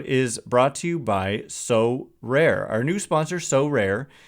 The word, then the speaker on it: Sorare: But before we do, this episode is brought to you by So Rare.